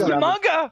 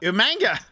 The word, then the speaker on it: Umaga: That was Umaga. Umanga. Humongo. Who called him Umanga? Regal. I don't know. Regal. Umanga. That's right. Poor William Regal could not pronounce his name.